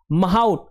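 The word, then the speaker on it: mahout: में महावत बोलते हैं महाउ की असली स्पेलिंग होती है देखिए महाउ की स्पेलिंग होती है चलिए हम लोग डिकोड करते हैं इसके महा उट देखिए यह तो मैंने देखो महाउ की जो असली स्पेलिंग होती है व यह होती है एम ए एच ओ यू T right Mahav मीस महावत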